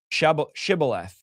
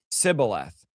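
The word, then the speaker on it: Shibboleth: They would tell him to say she shibth. If he was from Ephraim, he would say cibilth because people from Ephraim cannot pronounce the word correctly.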